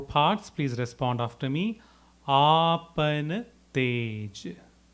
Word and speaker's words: आपन तेज: We'll look into the pronunciation first in 4 parts. Please respond after me. Apan tej. Apan tej.